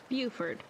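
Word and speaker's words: Beaufort: How do you pronounce Buford? Is it Buford? Buford.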